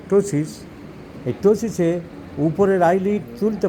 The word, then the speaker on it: ptosis: এস আই এস ইংরেজিতে পি এর উচ্চারণ হয় না টোসিস এই টোসিসে উপরের আইলিড